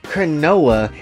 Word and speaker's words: Chronoa: Which how is your name Chronoa and it rhymes close to canola and your ass can't cook?